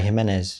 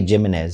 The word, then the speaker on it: Jimenez: it well no yeah himz yeah let people say jimz sometimes well they need to know how to actually pronounce a you know Spanish name so it's himz oh perfect I'm happy